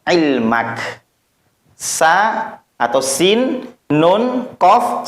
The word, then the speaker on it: Qaf: Maka tidak dibaca ko, tidak gitu. Baca seperti hurufnya. Qaf, maka dipanjangkan menjadi 3 alif. Qaf.